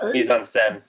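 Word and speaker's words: mise-en-scène: or tonally, or Kat used, I'm going to pronounce it wrong, mise-en-scene, is that how you say it? Mise-en-scene.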